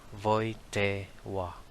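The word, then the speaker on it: Wojtyła: the pope is carol w is pronounced as v and l is pronounced as w that's why the family name of carol is pronounced as voite wa the parents might have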